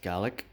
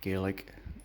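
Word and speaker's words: Galek: Next one we'll look at then is Gallic, or Gaelic as some people pronounce it. I'm 100% sure it's Gallic.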